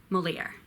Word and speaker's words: Molière: or Francoise travel lays more yeah more yeah Moliere Jacque I seen Jean ha ha seen Jean